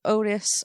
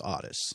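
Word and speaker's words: Ottis: we meet becky and am i calling him otis or odyss okay in the movie he's called otis in real life the real life character is odyss that's how you pronounce this so i should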